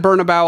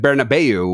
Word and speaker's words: Bernabéu: it thereafter, I'm hearing Bernabu, which with the way that it's spelled and where the accent is is how I would pronounce that given no other information.